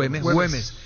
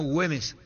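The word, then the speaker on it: Güemes: Le ganó a Morón Patronato por 1 a0 y perdió ante Atlético Gemes se pronuncia o Gemes. 2 a 1 ganó Hümees al equipo de Patronato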